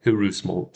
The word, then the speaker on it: heureusement: I said heureusement, so it's just heureusement because we don't say the H.